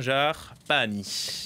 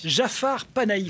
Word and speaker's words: Jafar Panahi: trois visages de l'iranien jafar pahani jafar panahi comme ça qu'on prononce exactement il a gagné le